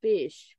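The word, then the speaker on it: ghoti: did he come to know that that was pronounced fish because when someone had put it in my chat I said is that pronounced goatee or Gotti and then I'm like let me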